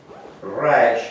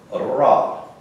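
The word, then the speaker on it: רע: The word evil is rash, has a 200 value, and ayin, which has a 70 value, and it's pronounced ra with a double A, ra. Have to roll your R.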